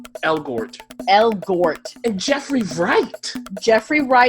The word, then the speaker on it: Elgort: Elgort.